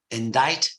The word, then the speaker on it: indict: have a silent uh so indict indictment inductible with a silent c I just mentioned them